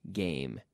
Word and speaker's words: game: o football game, soccer game. Pero en Europa es más común decir match, por eso. ¿Ok? Game. ¿Puedes pronunciarlo otra vez? Game. Game. Hay que cerrar la boca con el M.